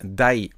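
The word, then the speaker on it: 台: Et bien là pour compter les machines et bien vous saurez que on utilise ce petit kanji là euh et il se prononce die.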